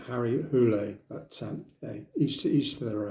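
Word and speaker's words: Harry Hole: this going Cliff that's not the way to pronounce Harry Hall it's Harry hulle at each each to their own so what's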